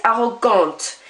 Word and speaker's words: arrogante: You just now pronounce the end consonant. So instead of arrogant, it's arrogante.